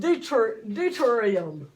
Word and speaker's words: deuterium: This one is not called hydrogen 2, it's called deuterium.